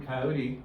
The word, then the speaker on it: coyote: American word and and it was actually pronounced coyot or something like that uh or or coyot um and it was Looney Tunes who who um bastardized the name by by making it rhyme with Wy Wy coyote um and and so coyote is what we often call them now but it's not the original pronunciation don't but it is